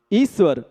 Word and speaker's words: ईश्वर: शब्द लेते हैं ईश्वर इसे ईश्वर लिखा होने के बाद भी हम जब उच्चारण करते हैं तो इस स्वर कहते हैं मतलब तालब सकार जिसे बोलचाल की भाषा में सक्कर का सा कहते हैं वह दो बार पढ़ा जाता है तब उच्चारण शुद्ध होता है इसी तरह से